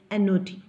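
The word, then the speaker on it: knot: Here, K-N-O-T, N-O-T. See, listen, while pronouncing, I'm pronouncing in the same way. I'm pronouncing in the same way. But here, spelling part is completely different. K-N-O-T, not, N-O-T, not.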